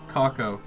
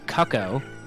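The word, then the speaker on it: Cucco: Make sure you pronounce that word the right way, or else Twitch will ban you. Kako. Yeah, no, you don't want to say cucko.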